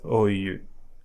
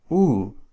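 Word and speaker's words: ου: just ao, eu, and this one is not pronounced as OU, but as U, like a double O in boost or pull, U.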